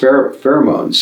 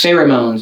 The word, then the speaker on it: pheromones: how do you spell it p-h-e-r-o-m-o-n-e this is pronounced pheromones pheromones yeah are substances which are uh secreted to